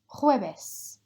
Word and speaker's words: jueves: Repeat after me, jueves. Jueves. If you're really struggling to make that h sound, just pronounce it as if it was a H there.